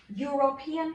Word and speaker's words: European: i pronounce these words what's the first sound you hear european country european country the first sound is you so i would say a